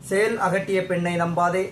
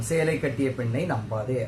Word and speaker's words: சேல் அகட்டிய பெண்ணை நம்பாதே: சேல் அகட்டிய பெண்ணை நம்பாதே, சேல் அகட்டிய பெண்ணை நம்பாதே, சேல் அகட்டிய பெண்ணை நம்பாதே அப்படின்னு வரிசையா நீங்களே சொல்லி பாருங்க. ஃப்ளோவா கடைசி எங்க வந்து முடியும்? சேலை கட்டிய பெண்ணை நம்பாதே அப்படின்னு தான் முடியும்.